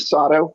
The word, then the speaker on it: Sato: now yours hi uh sato ogden residence uh rhymes with otto sado i really don't